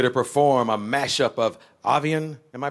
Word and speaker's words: Avian: indeed he's here to perform a mash-up of avian am i pronouncing that right cool you oh no you just can all see say it again avian and aquarium both songs from his top-ten album